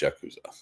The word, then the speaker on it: Yakuza: Is it pronounced Yakuza? It is pronounced Yakuza. That is correct.